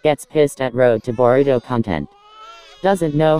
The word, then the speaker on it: Boruto: some of the comment why does this MF pronounce their names wrong did you say road to Burrito don't make fun of someone if you make the same mistakes gets pissed at road to boruto content doesn't know how to say boruto dumbass